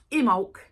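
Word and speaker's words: Imbolc: so it looks like imul but it's actually pronounced imul okay so imul is the 2nd of February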